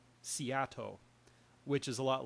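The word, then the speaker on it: SEATO: they set up the Southeast Asia Treaty Organization which is pronounced seat which is a lot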